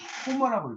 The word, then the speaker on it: 호머: 영어식으로 읽을 때는 뭐라고 읽냐면 호머라고 읽고 호머. 이 호머는 영어식 이름이에요. 영어식 표기고 이제 그리스어로는 호메로스라고 하는 겁니다.